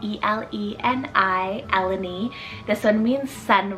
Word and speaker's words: Eleni: list a greek inspired name here we have elleny spelled e-l-e-n-i eleni this one means sun ray then i